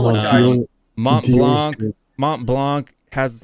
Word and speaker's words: Blanc: Bouillon Blanc. You don't count the C. The C is silent, bro.